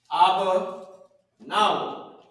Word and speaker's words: Abba Nawa: Abba Nawa, right? So now, how you pronounce it is Abba. You already know we already had that, right? And then you got Na, and then Wa. Abba Nawa.